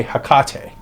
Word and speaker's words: Hekate: and everything else um I'm just going to heck is what I say as well with millions of others um if you say hak that's awesome um again aame atham